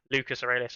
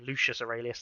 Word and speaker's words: Lucas Aurelius: and bring it up lucas aurelius that's it lucas aurelius i nearly called him lucious aurelius that would have been terrible um and he paint